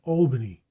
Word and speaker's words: Albany: a footnote curiously enough Americans always use the broad a in the first syllable of Albany whereas Englishman rime the